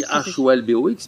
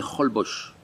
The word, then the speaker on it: Holbox: Alors ça s'écrit H-O-L-B-O-X, mais ici, ça se dit Holbox.